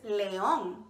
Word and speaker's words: león: you want to say lion in Spanish live in Spanish is Leone can you say Nome let me hear you good job that's exactly how you say it can you roar